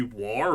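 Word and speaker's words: Waaagh: Which is why I get annoyed with people that say "wa" as if that's what it's meant to be. Because it may actually, like, as far as the creators say, that's meant to be how it's pronounced, but I'm pretty sure it's meant to be war, but shouted by a Scotsman. Because if a Scotsman shouts, if you shout war, you lose the R.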